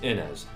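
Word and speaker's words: Innes: then there's this guy his name pronounced ins or Ennis fireman heroes voice actor for the character has demonstrated the pronunciation out which is in us for the longest time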